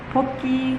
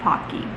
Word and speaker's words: Pocky: clarify for everybody watching this video it is pronounced pokey not pocky for dinner i made these instant pop mongolian